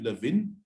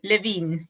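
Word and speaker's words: Kurt Lewin: generation we all know kurt levin i hope i pronounced him uh correctly it is kid levine flo yes i believe it is levine okay all right so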